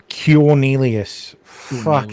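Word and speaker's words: Quornelius: Q U O R N E L I U S Radford like cureelius Christ.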